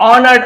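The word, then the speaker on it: honored: The king ऑनर्ड Abhinav. ऑनर्ड है ना ए silent होता है।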